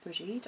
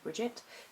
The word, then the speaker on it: Brigid: for the solar goddess bridgid or Bridget depending on your pronunciation and this was a